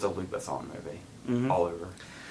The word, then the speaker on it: Luc Besson: Luc Besson, I think is how you say it.